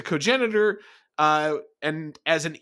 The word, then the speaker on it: cogenitor: to just merely as a cognitor yeah oh look at you correcting me on pronouncing something you no no I will not accept that from you no any any nuts you but uh yeah the third person who's referred to as a cogenitor uh and as an